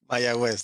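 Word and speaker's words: Mayagüez: of Puerto Rico uh tell me how I pronounce this Manny mayaguez that's that's correct yeah okay my my quiz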